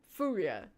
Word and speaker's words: FURIA: Furia.